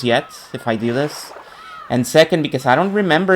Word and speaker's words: Anj: uh Anj's life which apparently is pronounced an sort of a French pronunciation an oh an's uh time in in the Catholic pool, which apparently wasn't very good.